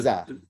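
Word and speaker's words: زاي: And this is exactly the English letter Z. Okay, right. Z. So right. this is a za.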